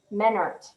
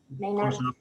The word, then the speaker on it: Maynard: And finally, next week we have Tribal Judge Eric Menert joining us. Is that the right pronunciation, Kelly? Maynard.